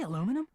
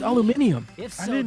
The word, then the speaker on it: aluminium: Did you say aluminum? It's pronounced aluminium.